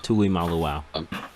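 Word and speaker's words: Tuimoloau: Tui Molo. Yeah. Malaw. Yeah. And then we got a Malaw. Yeah, it's Malo. Tui Malu.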